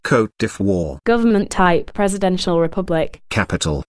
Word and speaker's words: Côte d'Ivoire: 15th to 17th centuries note pronounced cote de fois government type presidential Republic